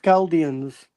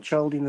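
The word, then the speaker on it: Chaldeans: It's and it's pronounced Galdians. It's not Jaldian.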